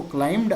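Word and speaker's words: climbed: अब जो B silent होता है क्या बोलेंगे इसको? क्लाइम्ड अप। है ना? क्लाइम्ड अप नहीं बोलेंगे। बी साइलेंट होने के कारण क्लाइम््ड अप।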